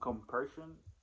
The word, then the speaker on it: compersion: There's a word called compersion, and that's the right pronunciation.